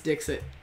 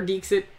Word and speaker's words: Dixit: my number five is Dixit I love it or dekes it however you want to pronounce it and he said she